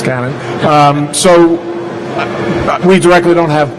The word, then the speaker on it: Canon: You said it right this time, right? Yes, it's Canon.